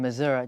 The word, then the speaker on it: Missouri: You moved from Missouri.